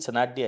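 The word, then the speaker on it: Sanadhya: मेरा नाम सनाडिया है, MOHITSANADHY, ये मेरी पूरी स्पेलिंग है सरनेम की।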